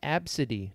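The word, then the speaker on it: Abcde: times yeah nowadays there's people named absidy did you know that and it's spelled a b c d e can you imagine they'll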